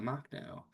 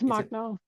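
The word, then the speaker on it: Makhno: So, let's talk about anarchocomunism because we just I just saw some chats about Machnau, which is that how I pronounce it, Caitlyn? How is it for for Yeah, it's Machno.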